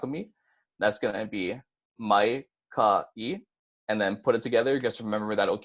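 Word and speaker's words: maikaʻi: kha and the e instead of saying my Takei since that Oh kina is there you'll be able to say Mike lucky instead so Mike ie is pronounced my ha e one more time you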